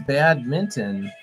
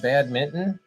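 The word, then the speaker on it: badminton: It is bad minton. Wow. I've been saying it wrong my whole life. I did not know. Bad minton. Did anyone else know that? Do Am I the only one that said bad mitten?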